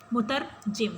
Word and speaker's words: مترجم: کی پیروی نہیں کی۔ مترجم، اسٹوڈنٹس تلفظ کو درست رکھیے گا۔ مترجم کا مطلب ہے ترجمہ کرنے والا، اور دوسرا ہے مترجم،